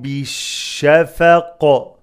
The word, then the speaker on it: بالشفق: فلا أقسم بالشفق. فلا is mad for حركات. أق قلقل إنقاف. أقسم بش بش the lam is not pronounced.